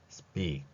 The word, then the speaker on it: speak: S 뒤에 P니까 쌍비읍으로 표기하면 speak, 그리고 마지막 받침으로 되어 있는 키읔을 흘리듯이 소리를 냅니다. 그러면 이 복잡해 보이는 이 글자는 하나의 호흡으로 빠르게 발음이 되는 것을 볼 수 있습니다. speak. 마지막에 크를 제가 약간 흘려주고 있죠.